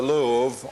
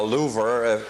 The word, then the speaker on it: Louvre: And this is the Louvre, or Louvre, depending on how you pronounce it.